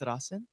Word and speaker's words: Straßen: So that letter is an old that looked like a beta sign. Oh yeah. It's pronounced like an S, It's like a two sharp S's, right? S. Oh, Yes, no. like but Strusen? you can use either that or two S's.